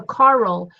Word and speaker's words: Carl: So when you say it, make sure it, even though it's only one syllable, Carl, right? It looks Yeah. like one syllable. It is one syllable, but we don't say it with one syllable. We say it with two.